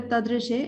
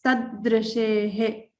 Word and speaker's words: तदृशेः: So we have to stress here. It's not a tadrishe, it's tadrishehe. Okay.